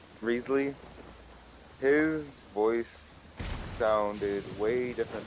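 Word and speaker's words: Wriothesley: Ryzley or Rezley. Rezley, his voice sounded way different than what I pictured his character voice to actually be.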